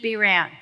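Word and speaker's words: Behrend: Now, I learned this from Bob, but through a book that he encouraged me to read called Your Invisible Power by Genevieve B. Rand.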